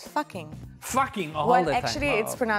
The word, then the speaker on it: Fucking: Fucking all well, the actually, time. Well, actually, it's pronounced Fucking, but it's spelled Fucking.